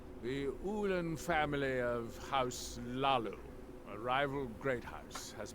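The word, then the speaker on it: Hlaalu: The Ulan family of House Lu, a rival great house, has placed a death mark on the counselor's head. I love that the age is silent with House Lu.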